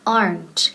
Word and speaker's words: aren't: And the pronunciation aren't. Quedan una sílaba. Aren't. Aplastamos esa E. No es aren't ni aren't, okay?